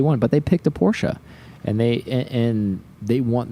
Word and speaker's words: Porsche: Pronounced Porsche. Not Porch.